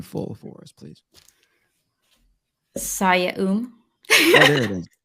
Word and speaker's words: Oum: SIYA, and then the last name is pronounced? OUM.